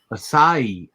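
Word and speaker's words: açaí: it's uh okay oh that looks awesome yeah acai i didn't know that's how you pronounce that word mm-hmm i don't eat away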